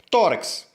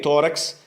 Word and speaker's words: tórax: recebe acento é bem tórax é uma palavra paroxítona eu tenho duas sílabas tórax e a primeira sílaba Ou seja a penúltima sílaba que nós contamos sempre de trás para frente essas sílaba é acentuado ela ou seja tem acento tônico a questão é deve